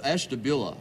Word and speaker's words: Ashtabula: Hank Stein from establish how do you say that it's Ashtabula Ashtabula what do you